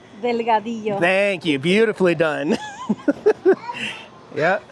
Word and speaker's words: Delgado: This is also Angel Delgato's property. Delgado. Gosh, that's a hard name for me to pronounce. I'll let Diana say. What is it? Delgado.